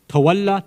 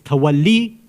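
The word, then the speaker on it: تولي: But through various reasons, which I don't want to go into, usually people, they pronounce both of these ideas, tawalla tabarra, which is incorrect. It's tawalli and tabarri. That's the proper Arabic pronunciation.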